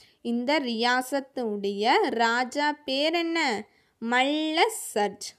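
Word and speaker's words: मल्लसर्ज: மல்ல surge. மா லா வந்து half லா வந்துருக்கு பார்த்தீங்களா? அப்படின்னா என்ன? புள்ளி வச்சு உச்சரிக்கணும். சரியா? மல்ல சர்ஜ். அந்த லைன் இல்லாமல் இருந்துச்சுன்னா அது ஹாஃப் லெட்டர். சரியா? சர்ஜ் தான். ஊஸ்கி ராணிக்கானா, அவருடைய ராணி பேர் என்ன?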